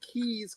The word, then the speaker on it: Caius: It's called Gonville and Keys College as part of Cambridge University. All right. All right. Let's get into some numbers And Keys now.